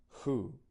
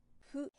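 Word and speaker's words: ふ: and this is not who, but Fu, and he, ho. this hu is pronounced with lips like blowing out candles.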